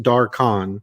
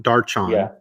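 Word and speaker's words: Darkhan: people by the way it is pronounced dark khan not darchan a lot of people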